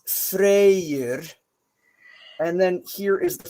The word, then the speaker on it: Freyr: it's important to understand an Old Norse the why is a kind of a is it sound it connects things so it's technically two syllables and it's freyr is frere or Frey's name uh